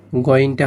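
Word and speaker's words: غين: গাইন, এখানে গ, এখানে গইনটা হবে গ, এভাবে একটা আওয়াজ আসবে এবং ৪ আলিফ টান হবে। কিভাবে হবে? গাইন। ফা, এখানে এভাবে উচ্চারণ হবে, এক আলিফ টান, ফা।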